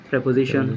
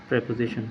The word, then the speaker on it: preposition: মানুষ বলে এটাকে প্রিপোজিশন, বাট ইট ইজ নট প্রিপোজিশন guys, it is preposition. It is preposition. Not preposition. Yes. Okay, stop saying preposition. Okay, stop what you are doing. You should not be doing what you are doing. Okay, the way you are pronouncing, it's not right, because it is not preposition, it's preposition.